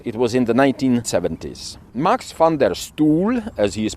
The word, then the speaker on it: Max van der Stoel: Marx Fander Stool, as he is pronounced, as I uh found out on YouTube, was a Dutch diplomat, politician, and a staunch advocate for human rights.